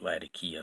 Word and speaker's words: Latakia: this is the street latakia flake or Latakia depending on where you are from and how you pronounce it but yeah really